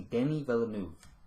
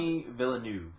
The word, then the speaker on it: Denis Villeneuve: I just found out Denis Villeneuve, his name is actually Denis Villeneuve. That's how you pronounce it. Denis Villeneuve.